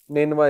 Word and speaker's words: نینوا: نینوا اس کا تلفظ ہے NINEVEH.